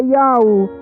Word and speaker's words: Yahweh: sagradas de origem hebraica, o verdadeiro nome do Altíssimo é Yahweh, e essa é a pronúncia original, e o verdadeiro nome do Salvador é Yahushua.